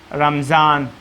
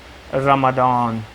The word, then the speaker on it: رمضان: مثال میں دیتا ہوں۔ رمضان ایک مہینے کا نام ہے، اہل عرب اس کو اس جیسا تلفظ کرتے ہیں، رمضان، رمضان، یعنی کہ ضاد کو